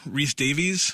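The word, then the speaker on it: Rhys-Davies: were Luke Skywalker and Alex well and John Reese Davies is that how you say his name yeah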